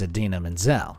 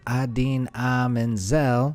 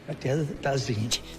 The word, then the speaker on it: Idina Menzel: Unfortunately, the phonetic spelling of Idina Menzel only served to confuse Travolta, resulting in the opposite effect to what was intended. The wickedly talented one and only Adele Dazeem.